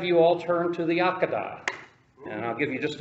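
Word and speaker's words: Akedah: hebrew it's a q a d it's pronounced pronounced in the hebrew akad akad and it means binding it means binding and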